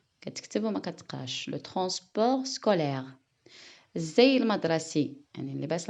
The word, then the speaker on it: transport: T, c'est une lettre muette. Il ne se prononce pas. كتكتب وما كتقراش. Le transport scolaire.